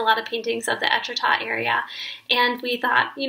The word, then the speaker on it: Étretat: and I can't wait not me only knowing how to pronounce etrata because I know how to pronounce Wichita and they sound kind of the same anyways thanks Google for